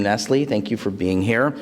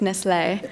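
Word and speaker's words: Nestlé: Well, only in America is it Nestle. Everyone else says it much more poetically. It's Nestle.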